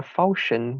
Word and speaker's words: falchion: Well, I also have a falchion. That's how you say it.